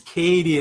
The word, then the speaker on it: Katie: Katie in i butchered her name's Katie and not my bad I said Kate